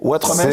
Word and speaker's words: Ouattremez: Ouattremez, bonsoir. J'ai bien prononcé Ouattremez, c'est ça? Impeccable.